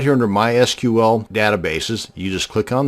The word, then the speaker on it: MySQL: how to create a mySQL database and yes it's pronounced MySQL not my SQL so the next time